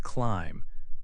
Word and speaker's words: climb: When you climb a tree, the B is also silent, say climb.